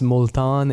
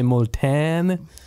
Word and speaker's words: Multan: that and they're going to like how I spell that somebody who's listening though might know molan m u l t a n okay so you might say molan give us give us a few uh a